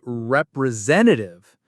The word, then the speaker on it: representative: You might need to speak with a representative. What a long word. Rep-re-zen-ta-tive. Where is the main stress? It's on zen, representative. That's our main strong syllable.